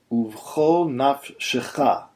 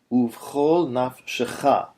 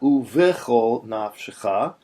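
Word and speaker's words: וּבְכָל נַפְשְׁךָ: This word is pronounced uvchol nafshecha. Uvchol nafshecha. Not uvechol nafshecha, but uvchol nafshecha.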